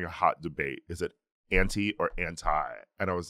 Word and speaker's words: Anti: it to appropriate or appropriate how do you pronounce Rihanna's album someone asked me this recently oh oh oh anti okay you're right yes it's anti uh someone was someone like a friend sent